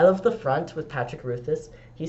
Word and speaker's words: Rothfuss: I love the front with Patrick Ruthus. He says, Rothfuss?